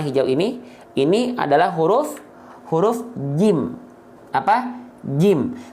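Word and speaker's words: جيم: Kesalahan yang sering kali terjadi ketika kita melafalkan huruf jim adalah membacanya dengan apa? Bocor becek. Bang, apanya yang bocor becek? Yang bocor becek adalah nafasnya. Ya, ini tetot nih, nggak boleh. Ya, oke, tetot, salah atau tak sempurna.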